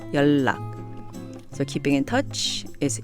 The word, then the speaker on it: 연락: It's actually spelled 연락, but it's pronounced 연락.